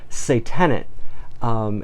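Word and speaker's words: se-tenant: need to talk about a philatelic term called say tenant it's spelled s e space te n a n T you know I feel like I'm at the spelling bee or something but so tenant and it's a collection of stamps that are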